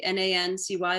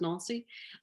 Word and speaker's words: Nancy: um it it's it's in the town of nalcy n-a-n-c-y like nancy but it's pronounced nalcy um near luxembourg and belgium um in france